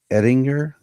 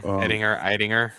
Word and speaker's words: Eidinger: So James Gunn announced that he had cast Brainiac, and it is, I want to pronounce everything correctly, Lars Ettinger. Yeah, Eidinger. Yeah, he's German.